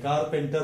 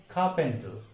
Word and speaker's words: carpenter: ये दोनों आर का उच्चार नहीं होता है, लेकिन हम गलती से दोनों का उच्चारण करते हैं, कारपेंटर बोलते हैं, लेकिन उसका सही उच्चार क्या है? सही pronunciation carpenter, इट इज carpenter नॉट कारपेंटर।